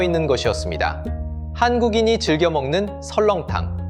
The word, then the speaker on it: 설렁탕: 시간이 흐르며 발음이 달라졌습니다. 선농탕은 설렁탕이 되고 설렁탕은 다시 설렁탕이 되었습니다. 문헌에 설렁탕이 본격 등장한 건 1924년이었습니다.